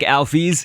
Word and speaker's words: Alphys: This is supposed to be like Alphys. Yes, that's how it's pronounced, according to Toby Fox.